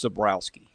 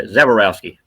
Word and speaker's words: Zaborowski: Dash, I think I botched the pronunciation, so it's Zaborowski. Yeah, Zaborowski. Zaborowski.